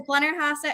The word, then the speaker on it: Blennerhassett: of messed up figures okay how do i pronounce it it is blenner haas at hotel and that's named for harman and margaret blender hassett we're in very close proximity to the island